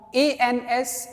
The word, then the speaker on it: ans: A-N-S is years. And this is pronounced as on.